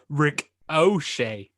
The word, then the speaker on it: Ricochet: nothing the the correct the correct way to pronounce ricochet is rick o'shea that's what that's what